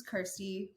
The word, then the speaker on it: Kirsty: quarantine passion project so my name is Kirsty which the only thing that rhymes with it is thirsty yes this has been